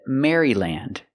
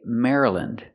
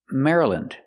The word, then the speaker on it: Maryland: Maryland. For the Y, we don't say Mary, we say Mara. We make a short sound, Mara.